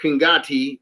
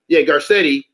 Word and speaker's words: Garcetti: And the mayor, the Los Angeles mayor, Eric Kingati, as you were saying his name, I'm saying it right. Garcetti.